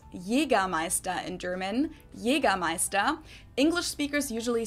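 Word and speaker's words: Jägermeister: yiga MAA in German Jaga Meister English speakers usually say Jagermeister which is pretty much the same just with a pretty thick accent and people also often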